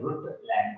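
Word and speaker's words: Brundtland: ब्रुटलैंड में N silent है, एन और डी दोनों साइलेंट है, ब्रुटलैंड बोला जाता है।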